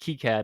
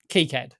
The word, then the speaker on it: KiCad: It says it's pronounced KiCad on Wikipedia, so I can't necessarily I can't. That's not definitive because you have because you do know that I was correct in that it is KiCad.